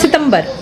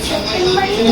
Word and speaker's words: सितंबर: सी सितंबर नहीं हिंदी में होता था सितंबर होता है। सितंबर सितंबर देखो मैं कैसे प्रोनाउंस कर रही हूं। सितंबर अच्छा सितंबर हो गया। सेप्टेंबर नहीं सितंबर इंग्लिश का थोड़ी ना है। हिंदी वाला महीना है।